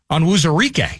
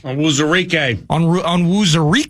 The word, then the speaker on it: Onwuzurike: Now, when you're calling games, how about this guy, one of my favorite names that you pronounce, Levi Onwuzurike. Onwuzurike.